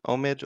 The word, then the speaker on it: Omid: um my name is omid or omid both pronunciations are correct um omit is how it's usually said in english what means is what